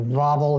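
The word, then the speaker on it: Wawel: czech dialect german dialect w's are pronounced as a v so novel hill bubble castle this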